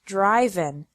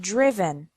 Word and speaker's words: driven: risen write wrote written notice that the sound of the I changes from the present to the past participle the present is drive and the past participle is not driven but driven subgroup three verbs ending